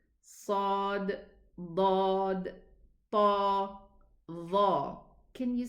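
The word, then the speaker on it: ص: Sad, Dad, Ta, Dha. Can you see the resemblance between them? They are called heavy letters. This is how they are pronounced. Sa, there's an echo in the mouth.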